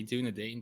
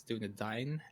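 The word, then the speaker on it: Dúnedain: but it's doing Dane Doudna Dane people say doing a Dane but actually it's doing a dying dude I'm yeah that's how it's pronounced in the Lord of the Rings movies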